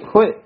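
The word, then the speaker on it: ਹੋਇ: हाँ जी, होय ता उच्चारण हाही अंकड़ लघु मात्रा है, इडी से हरी लघु मात्रा है, हुए नहीं कहना, हाही होड़ा इडी ला ला के, होय छेती नाल बोलना है, तेजी नाल बोलना है, होय फैल्यो अनुराग,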